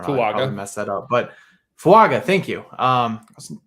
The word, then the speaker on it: Fuaga: can't remember how to say his name uh fuga I don't know messed that up but fuaga thank you um not not too far out